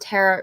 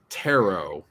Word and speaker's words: tarot: do star charts and tara readings yeah i don't know taro you did it again and it wasn't misspelled you said tara taro taro like tarot cards that's how i know